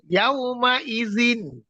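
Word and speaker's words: يومئذ: ইয়াউমা ইদিন, এটা হামজা। জি, ইয়াউমা ইদিন, হামজার উচ্চারণ সবসময় শক্ত হবে, ঠিক আছে? যেমন জি, হামজের ই আর আইজের আই, আইন একটু নরম আর হামজাটা শক্ত। ইয়াওমাইযিন হ্যাঁ, মাশাআল্লাহ।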